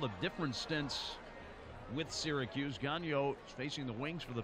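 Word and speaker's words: Gagnon: at six 495 pounds his name spelled G a G you know n pronounced gallo now Ronald to Reyes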